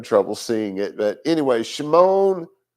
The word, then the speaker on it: Shimon: But anyway, Shimon, Simon as he's known, Shimon, or Shimon, to say it properly, Shimon the righteous or